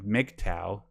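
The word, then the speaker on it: MGTOW: you have ever heard of Mick Tao that's a how that's actually how it's pronounced but I would suggest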